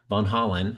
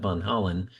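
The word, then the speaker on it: Van Hollen: Von Holland, not Holland, but Von Holland about, you know, the revocation of student visas and whatnot.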